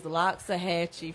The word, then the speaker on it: Loxahatchee: it that city that you talking about is Loxahatchee Florida whoa it must be like a remote